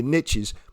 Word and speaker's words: niche: I always talk about, now I know not a lot of people say the riches are in the niches, but it's niche, right? So it's pronounced niche.